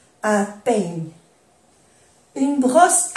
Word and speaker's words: brosse: Cuando hay dos S se pronuncia bien la S y no se pronuncia la E.